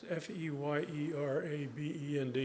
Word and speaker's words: Feyerabend: It's Feyerabend. I always have to spell it out because it's an unusual spelling.